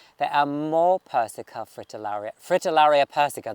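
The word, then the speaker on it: Fritillaria persica: are more persica fritillary fritillaria persico this is how you say it but this is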